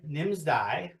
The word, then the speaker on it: Nimsdai: I'm going to hopefully pronounce his name right. Who is Nimsdal Prusa? Nims Nimsdai.